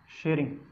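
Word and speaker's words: Tshering: तो जो स्पेलिंग्स होती हैं इंग्लिश में, उससे पता चलता है कि जो टी के साथ में कभी भी एस आता है तो टी जो है वो साइलेंट हो जाता है।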